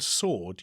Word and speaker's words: sword: Um, until relatively recently, like a few hundred years ago, in the word sword, you pronounce the W.